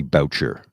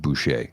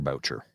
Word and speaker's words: Boucher: years ago he said my name is Bobby Boucher do not pronounce it bue I went okay Mr Boucher oh did he see